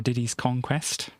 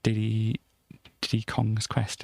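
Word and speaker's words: Diddy's Kong Quest: makes a pun so you've got to say it right because you know previously i'd read it read it as a diddy d kong's quest it's not that is diddy's conquest so there we go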